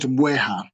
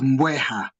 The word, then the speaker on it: bweha: So we call it Bweha. Bweha. Okay. Yeah. Some people tend to put M before B. So they pronounce it as Mbweha, Mbwe.